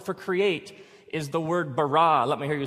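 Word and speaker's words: ברא: now the word for create is the word barah let me hear you say barah it's this forceful energetic word of making things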